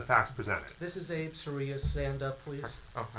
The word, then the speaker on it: Seruya: Soria. Soria. Could you spell that, please?